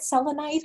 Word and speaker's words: selenite: she started healing with selenite is that how you say it selenite villainite yes and we were having